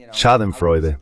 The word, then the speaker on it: Schadenfreude: Merkel está sintiendo un poco de, ya sabes, Schadenfreude, si esa es la pronunciación correcta, al ver lo que está sucediendo, porque ya sabes, lo sabemos.